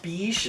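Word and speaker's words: Bij: maybe a be be it's b i j but it's pronounced be okay b e e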